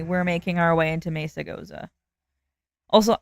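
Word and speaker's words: Mesagoza: Also, I've heard people pronounce it as Misa Goza. I'm sorry, but unless you like are living under a rock, Spanish people do not pronounce that as misa. That is like the most anglicized way of saying that I have ever heard. It's messa. Like mea being, you know, a Spanish word.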